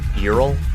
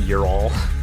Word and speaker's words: Ural: Eural. Not Eurol. Ural.